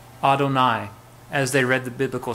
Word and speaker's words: Adonai: say the name Hashem but my Lord is pronounced Adonai and so whenever they would see the four letters yud he V or YH VH they would say Adonai as they read the biblical script instead of